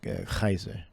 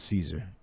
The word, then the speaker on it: Caesar: mean Kaiser Nero yeah because it's really it's pronounced Kaiser not not Caesar Julius is pronounced ulius all right there's no